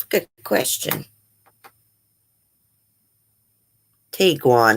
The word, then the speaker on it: Tiguan: Tiguan, that's how you say it.